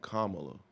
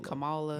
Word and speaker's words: Kamala: like this is not about kamalo that's how you say it it's K I've seen the YouTube video I've been saying Kamala me too camela I've